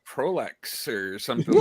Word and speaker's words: Proulx: Yeah, and I so should have asked him how to say his last name, but You mean Proulx? there you go, Proulx, Warren Proul Jr., ladies.